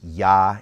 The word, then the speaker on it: Yah: in their supposition that the theophoric pronunciation for the Creator's name, in the South, in other words, in Judea at Jerusalem, was Yah, and things that would